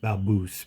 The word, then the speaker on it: Balbus: To really blow everybody's mind, explain to them what B A L B U S is. It's pronounced Baboose, but it won't come up right.